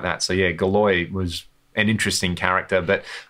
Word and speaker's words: Galois: uh everest gala galwa galois galois that's how you say it i'm getting rusty on